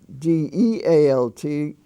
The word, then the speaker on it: dealt: like a short e uh the word delt d-e-a-l-t is not dealt it's dealt and is pronounced like a short e delft were the